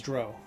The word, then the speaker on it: drow: my mind it was drow it was like it rhymed with Crow not cow like a crow is